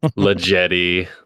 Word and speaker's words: La Jetée: Le Jetty. Thank you for pronouncing it correctly.